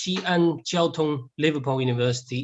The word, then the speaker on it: Xi'an Jiaotong-Liverpool University: So again, for the pronunciation, is Xi'an Jiaotong-Liverpool University.